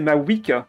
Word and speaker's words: Mavuika: En fait, au moment où elle va refaire sa compétence ou son déchaînement avec ma Vuika, je vais perdre. Et sa prononciation Jab, c'est ma Wika.